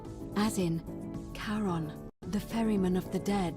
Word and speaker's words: Charon: pronunciation is a little off. The name you heard wasn't Karen. It was C-H-A-R-O-N, as in Charon, the ferryman of the dead.